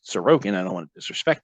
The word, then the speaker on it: Sorokin: of the game at various points aliases or sarokin shizerkin that's how I used to pronounce it until I realized how it's really pronounced sarokian I don't want to disrespect the guy he